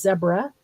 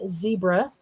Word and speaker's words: zebra: Are you guys telling me that in Canada you pronounce Zebra as zebra? Also, like Africa does, not zebra, as we tend to in the US.